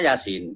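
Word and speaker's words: يس: Yasa tulisannya yasa tapi bacanya Yasin. Yasin gitu kan.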